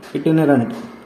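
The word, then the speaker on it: itinerant: त्याला प्रवासाची गोळी असतो वेगा बॉड आणि इनेरेट इटनरंट इटीनेरंट प्रोनन्सिएशन बोलताना लक्ष द्या थोडस अँटीबायोटिक म्हणजे काय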